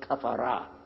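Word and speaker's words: كفر: The word in English, cover, comes from the Arabic word kafara. Kafara. And they mispronounce the F and make it the V.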